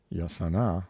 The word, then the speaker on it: jacana: A still more interesting bird was the jacana, as it is spelt in books, but pronounced yasana by the Indians of Paraguay, a quaint rail-like bird supposed to be related to the plover family.